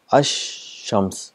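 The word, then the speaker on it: الشمس: silent and the sound of sheen is doubled ash shams the two times it's a compensation and there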